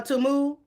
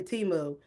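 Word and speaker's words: Temu: for my teu a tumu since we've been all saying it wrong is it tumu girl I say teu anyway I'm a teu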